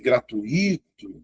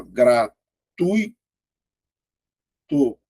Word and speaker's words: gratuito: Porque se fosse gratuito teria um acento aqui, ó, regra dos iatos. Mas você vai observar que essa palavra não tem acento, ó. Porque vai ficar assim, ó. Gratui tu. É só um ditongo, ó.